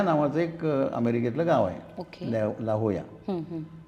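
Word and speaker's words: La Jolla: America खंडामध्ये Mexican याच्यामध्ये लाहोया नावाच एक अमेरिकेतल गाव आहे लाहोया आता त्याच स्पेलिंग कसं होतं एल जे जे ओ ओके एल ए लाजोला लाजोला पण उच्चार काय आहे ला होया ओके एल ए चा या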